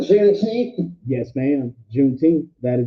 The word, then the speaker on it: Juneteenth: It's June 19th, and what you'll hear is Juneteenth as in like teenth of how it's actually pronounced.